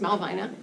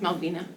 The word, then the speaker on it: Malvina: Um, actually my name is pronounced two ways. Um, I was born and raised in Maine up in Bangor, so pronounced Malvina and it's also pronounced Malvina.